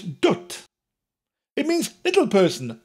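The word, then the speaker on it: dwt: it's spelled d WT and I've heard people pronounce it all kinds of ways including don't doot doubt but it's ducked it means little person like the right girl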